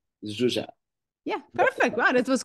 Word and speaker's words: Zsuzsa: How shall I pronounce it? It is Zsuzsa. Zsuzsa.